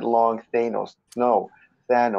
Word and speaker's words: Thanos: says Thanos like Jamal if you're listening it's Thanos god damn it Thanos then no stano's short a not long Thanos no that looks like the Greek god of